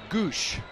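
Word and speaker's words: Gwosdz: Here's how he spelled his last name. G-W-O-S-D-Z. G-W-O-S-D-Z. Goosh. Are you sure that's the correct pronunciation? That's the correct pronunciation according to Baseball Reference.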